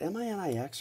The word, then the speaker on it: Minix: But basically, but Linux also rhymes with Minix. Was it M-I-N-I-X or was it M-I-N-U-X?